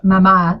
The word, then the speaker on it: Mama: It's mama, like in Spanish, mama, but most people don't really know that.